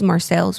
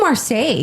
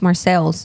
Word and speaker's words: Marseille: We asked a few people in the area and they said it was Marcel's. We were like, oh, who said it was Marseille?